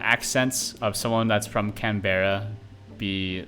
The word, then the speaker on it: Canberra: It looks like it's pronounced Canberra. Canberra. Okay. I didn't know that. I accept no blame for that. That's entirely on the spelling. If there was one R, I think I would have pronounced it Canberra.